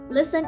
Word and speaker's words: listen: The letter T is silent in few words. Like this: listen, casual.